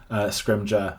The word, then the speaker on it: Scrimgeour: Scrimgeour, I've been told, because I just always get it wrong.